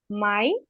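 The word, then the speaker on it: Mai: আবার আমি উচ্চারণ করে দেই, জানুয়ার, ফেব্রুয়ার, মার্চ, এপ্রিল, মাই, ইউনি, ইউলি, August, September, October, November, December.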